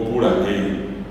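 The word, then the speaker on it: purahéi: Esos señores flacos cantan um cara piru o puragei. Umí carirú o puragei. El vero es pure. P u r a h e acento a acento normal y la i o pura g.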